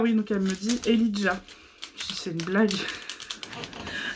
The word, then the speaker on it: Elijah: Donc effectivement, elle le prononçait Elijah, donc c'est E-L-I-J-A-H, comme Elijah Wood, dans Le Seigneur des Anneaux par exemple.